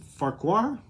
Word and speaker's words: Farquhar: hits zero heirs uh larue and farquhar is how you say his name for auburn anyway they